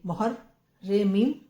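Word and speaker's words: محرم: meme meme हे रे मोहर रे मीम रम मोहर्रम इस पर आएगी तद रे प इस आएगा पेश है नहीं कुछ भी लेकिन हमने फिर भी पढ़ा मुहर्रम ऐसे ही आप पढ़ने लगेंगे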